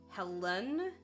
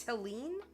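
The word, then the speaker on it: Helene: out it was pronounced I thought it was like pronounced Helen Helen or something but it's it's Helen um but apparently it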